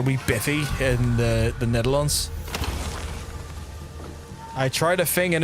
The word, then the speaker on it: Netherlands: You keep nailing the pronunciation of Netherlands. Uh, but you mean the country as a noun. It doesn't end Netherland. Oh, okay.